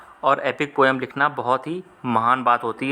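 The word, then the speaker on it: Homer: तो सही जवाब है हो मां ऑप्शन नंबर सीईओ जाएगा होमा इसमें आर जो है वह साइलेंट है इसलिए इसको होना पड़ा जाता है हैं इन्होंने क्या लिखा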